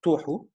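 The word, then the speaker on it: תֹהוּ: ادي الكلمه اهي، وادي نطقها توحو، معناها desolation او desert.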